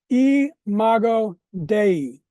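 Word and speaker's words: imago Dei: In Latin, it's pronounced eago dei.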